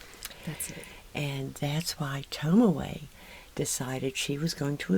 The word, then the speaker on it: Tomoe: mob people um and that happened to be tomio's am i pronouncing that right tomorrow excuse me tell me his fiancee that's it and that's why tomaway decided she was going to avenge her unfortunately